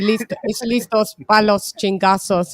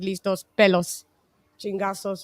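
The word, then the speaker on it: listos pa' los chingazos: No, it's supposed to be listos palos chingazos, and he said listos pelos chingazos, which is pelos is his hair.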